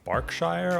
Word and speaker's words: Berkshire: county names here um berkshire's pronounced barkshire also derby is pronounced